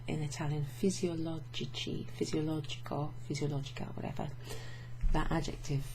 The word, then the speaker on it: fisiologici: It doesn't retain that hard k sound from physiologico. It becomes chi.